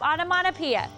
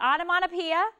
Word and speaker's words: onomatopoeia: So just remember that onomatopoeia has 6 syllables, it has 12 letters, and it's a word that imitates a sound.